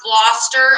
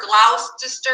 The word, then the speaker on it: Gloucester: it is actually pronounced gloucester i'm not saying it all right no it's okay everybody thinks i'm saying it's like gloucester or glaus sister or something it's like worcestershire sauce uh gloss okay okay